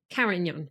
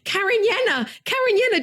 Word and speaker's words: Cariñena: beautiful bottle of mainly Carignan. Oh, I said it wrong. Cariñena.